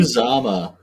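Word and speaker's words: Uzomah: Oh, no, little tight end CJ, who's Madada or whatever, however you pronounce his name, just absolutely just goes off. How you say it, Cody? Uzama.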